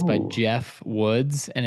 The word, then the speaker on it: Geoff: But the AI driven leader, It's by Oh, Jeff Woods, and it's the Jeff oh, that's spelled Geoff, so Geoff.